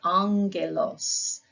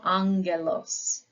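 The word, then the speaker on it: ἄγγελος: or a key and in one of our words we see uh this is our word Angelos so you start with the Ang uh and then there is the elos so you have Ang so Angelos within the Greek alphabet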